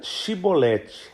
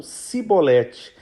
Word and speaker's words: Shibolete: E esse dialeto hebraico com pequenas divergências faladas pelos efraimitas, eles trocavam o som do CH pelo S. Então, ao invés de pronunciarem Shibolete, eles falavam Sibolete.